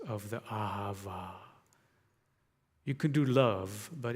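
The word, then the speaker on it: אהבה: your mind's eye in in english you would spell it a h a v a a ha va it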